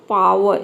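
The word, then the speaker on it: power: रहा है मतलब कि यहां पे भी आर लेटर साइलेंट है तो पावर इसको बोलना है पावर पावर ठीक है तो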